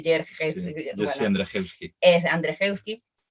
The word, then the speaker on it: Andrzejewski: De este escritor de apellido impronunciable, Jerjes. Sí, Bueno, Andrzejewski. es Andrzejewski.